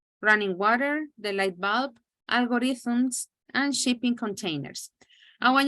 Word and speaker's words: algorithms: do you pronounce algorithm algorithms algorithms well the th that sound from thank you you know algorithms okay thanks welcome very